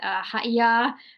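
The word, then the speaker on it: Hagia: Uh the largest church that was ever built um the Hijia Sophia um different different ways to pronounce that. Hya I guess is how you would say it in their language.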